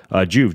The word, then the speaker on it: Joovv: Can't say that without saying it like that. Joovv, Joovv is how you spell that, which is why I pronounce it like that.